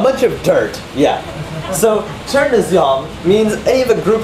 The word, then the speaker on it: chernozem: Chernozem, right? Just Chernozem. But it's actually pronounced Chernozyom.